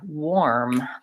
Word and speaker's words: war: or sound or or same with the word war like the country went to war it's the same as this war like I wore some